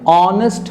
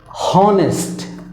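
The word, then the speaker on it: honest: तो रहे हैं लेकिन बोलते वक्त एच यानी ह का उच्चारण नहीं कर रहे हैं। उस हालात में क्या हो रहा है कि यहाँ पे एच जो है वो साइलेंट हो जा रहा है। तो वो जब साइलेंट होता है तो उसके पहले एन का प्रयोग होता है। उदाहरण के तौर पे आप देखिए एन ऑनेस्ट मैन, है ना। हम लोग ये नहीं बोले कि हॉनेस्ट, ओके।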